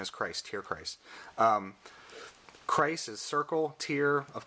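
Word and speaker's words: Tierkreis: Suicode and Tear. Hey, it's my last name. Tear. I keep saying. Christ. Correct pronunciation is Christ. Tear Christ.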